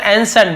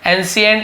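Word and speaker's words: ancient: बोलते हैं, इसे हम एंसेंट बोलते हैं, एंसेंट। ठीक है, एंशिएंट ऐसे बहुत से लोग पढ़ते हैं, लेकिन एंसेंट एक्चुअल प्रोनाउंसिएशन है।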